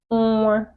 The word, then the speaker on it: nwa: Nwa, nwa, ni, nwa, nwa, ni, nwa. That's baby. Nwa, baby. Nwa, nwa. You pronounce these words with your nose.